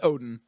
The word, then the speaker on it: Odin: It's Odin. It's just that's the old way of pronouncing it, is Woden.